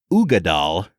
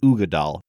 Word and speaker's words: Uigeadail: All right, so today we are checking out Ardbeg Uigeadail. Brad, that's how it's pronounced, Uigeadail.